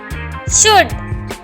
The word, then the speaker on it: should: For example शुड, SHOULD, शुड। अब यहाँ पे स्पेलिंग है SHOULD, शुड। तो शुड हमें D से पहले L आ रहा है तो D से पहले L है तो L हमेशा साइलेंट हो जाएगा।